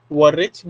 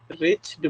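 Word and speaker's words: wretched: मनहूस, rest means वरेच्ड नहीं होता, ऐसे डब्लू यहाँ पे साइलेंट है तो सिर्फ रेच्ड पढ़ेंगे।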